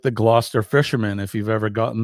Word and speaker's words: Gloucester: um Matt uh Gloucester is not and that's pronounced Gloucester it's not glow sester or any other version It's Gloucester um it's not very far from my house